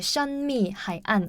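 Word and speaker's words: 神秘海岸: 중국어 발음으로 하면 이제 션미하이안 이렇게 하는데 션미하이안.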